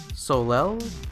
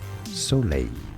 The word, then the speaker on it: Soleil: by the name of Soleil? I think I'm pronouncing that wrong, let me look that up. Soleil. Yeah, not even in the right ballpark.